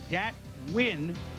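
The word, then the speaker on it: Dat Nguyen: UCLA goes to the Chiefs and data it's pronounced win dat win who came over with it well his parent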